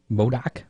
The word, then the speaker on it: Modoc: The last race of that Dryden Extreme Dirt Car Series is scheduled for Modoc Raceway. Is that how you pronounce that?